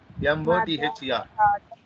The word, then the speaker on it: mother: Here this R is silent.